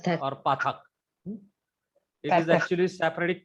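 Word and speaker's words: פַּתַח: No, don't say pathak or pathak. It is actually Sephardic pronunciation. Iberian pronunciation is a. It gives clear distinction. Pathak. Pathak. Don't say too much long. Pathak. Like a sound in bat.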